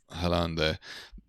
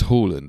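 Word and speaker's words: Haaland: with the signing of hollande um or it's horland actually i think you're meant to pronounce it oh holland okay yeah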